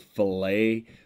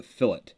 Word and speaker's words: fillet: store it's called the fillet but in architecture and in machining and 3d design that's called a fillet just so i you